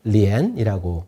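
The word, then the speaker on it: 莲: 연꽃이 무엇을 상징하는 것일까요 연꽃을 중국어로 리엔이라고 부르는데요이 엔이라는 발음은 사랑을 뜻하는 엔과 똑같아요 그러니까 중국 시인들은이 를 이용해서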